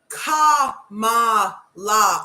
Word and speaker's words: Kamala: and a criminal okay she can look to camela Harris sorry come on come on my brother